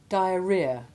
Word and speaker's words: diarrhea: alien to English and we simply treat the H as being virtually silent. Listen to the following examples. Rhythm, rheostat, rheumatism. Diarrhea, hemorrhage, catarrh.